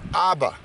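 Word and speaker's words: אבא: So Hebrew, you can pronounce this word, Aleph is the A sound, Bet is the B sound.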